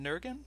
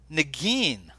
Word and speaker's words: Negin: Is it Nergin? You're not, but no one has ever pronounced it correctly. Tell me. It's a Negin Farsad. Negin Yes.